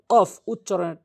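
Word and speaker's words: ق: কফ উচ্চারণ হচ্ছে জিহ্বার গোড়া থেকে উপরে তালু, কফ কফ, ধাক্কা দিয়ে কফ, তা কফ, সা শিন,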